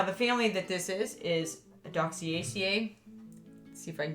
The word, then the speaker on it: Adoxaceae: Now, the family that this is Adoxaceae. Let's see if I can get a better pronunciation of it. Adoxaceae.